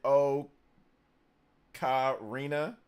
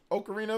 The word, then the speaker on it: ocarina: so so yeah uh I used to say o Kina of time that's okarina of time I hear Europe people